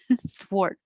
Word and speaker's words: thwart: the t swart swar make a th first and yeah i can't round my lips when i make the th and then i have to round my lips wart thwart ubiquitous ubiquitous okay that's